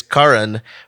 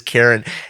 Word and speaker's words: Karan: And his name, it's Karan, but it's spelled Karan, and I read it as Karen.